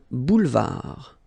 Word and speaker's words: boulevard: Un boulevard. Final D not pronounced. Un boulevard.